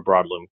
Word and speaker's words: Broadlume: So as we continue to add brands, it just makes sense that we have a parent company, and that's where Broadloom comes in. Okay. And that's spelled Broadlume.